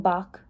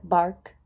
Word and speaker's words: Bach: a music program giving Bach she pronounced it bark isn't that what is